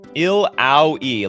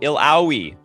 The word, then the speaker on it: Illaoi: Like how Drakonix said who uh how did Drakonix do it? Illaoi, like ouch. Oh, Illaoi.